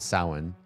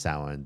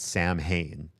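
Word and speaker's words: Samhain: is also also pronounced besides being pronounced sin they said there's an alternate pronunciation called Sam Hayne and I said you are wrong. There is not an alternate pronunciation of Sam.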